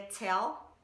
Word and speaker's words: tell: A primeira palavra que eu separei é tell. Na primeira linha que ele fala, don't you tell me. Tell é uma palavra que termina com L. E esse L, ele é pronunciado.